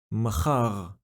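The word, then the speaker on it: מָחָר: Machar.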